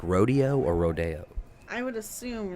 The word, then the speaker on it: Rodeo: people do you say it like rodeo or rodeo i would assume rodeo it's rodeo because that's far too hilly well